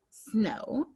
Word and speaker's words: snow: The letter O says its name and the W is silent.